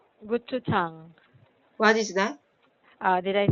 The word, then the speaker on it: 고추장: Gututang? Gochujang. What is that? Did I say it right? Gochujang? 고추장, 고추장.